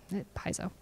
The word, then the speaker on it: Paizo: I'm like, oh, okay, because the Brits pronounce it Paizo and the Piazzo, and yeah, Paizo.